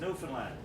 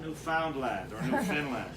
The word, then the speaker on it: Newfoundland: blue stairs also a beer and it is pronounced Newfoundland not Newfoundland New Zealand is the oldest settlement in North